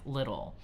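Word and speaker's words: Lidle: So, he's hanging on with a gang and he is friends with this man by the name of Dick Little. It's spelled L I D L E.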